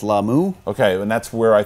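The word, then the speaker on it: Lah'mu: He's pronounced it right too. Finally, that's how they say it. It's gonna start. It's gonna start on Lamu.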